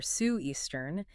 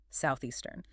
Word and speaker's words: southeastern: But if you substitute it with an F or an S, saying Southeastern or Sioux-Eastern, it immediately signals a lack of fluency. You must train the muscle. Tongue between the teeth. Southeastern.